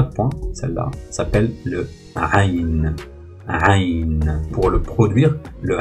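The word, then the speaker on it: ع: Alors je reproduis la prononciation de cette lettre. Hein. C'est aïn, aïn, aïn.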